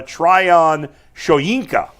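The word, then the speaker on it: Tryon-Shoyinka: former Buccaneers first round pick Joe Tri uh Trion shinka is how you pronounce it jts J we got a jts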